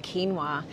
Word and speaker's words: quinoa: Number 20 is the ancient grain of quinoa. Quinoa, well, we used to call it quinoa before we learned how to say it appropriately.